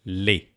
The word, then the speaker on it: les: You can use les and that is pronounced les. Okay, les. Les garçons, the boys. Les filles, filles, no. S remains silent in everywhere in the plural.